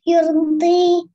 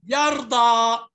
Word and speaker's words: يرضى: ولسوف يرضي. يرضى. الضاد قبلها فتحة. يبقى يرضى. هذه اسمها ألف مكسورة اللي في الآخر دي. ألف تنطق ألف.